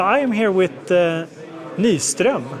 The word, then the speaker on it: Nyström: So, I am here with uh Nyström because that's how you say it in Swedish.